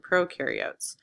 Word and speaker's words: prokaryotes: And prokaryotes is like, oh no, we need professionals, to carry the oats for the oatmeal. So eukaryotes, prokaryotes.